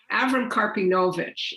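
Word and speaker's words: Avrom Karpinovitsh: sure so uh our avram karpinovic and just to clarify for people avram karpinovic is that's the yiddish pronunciation of his name abraham carpinowicz is the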